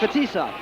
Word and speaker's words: Fetisov: It's a Boston pronunciation. It's Fetisov. Fetisov.